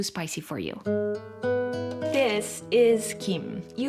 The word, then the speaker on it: gim: This is gim. You might hear it pronounced kim, but in this video, let's call it Kim, which is closer to the original Korean pronunciation.